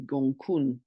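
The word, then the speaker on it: Gonggong: um Pisces called it's spelled gong but it's pronounced apparently gun talked about gun before it's got a 550 one year orbit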